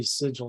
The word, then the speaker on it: sigil: Yeah, vigil, but with an S.